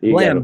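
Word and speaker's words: Blame!: Blam, Blame. It's spelled like blame, but it's not.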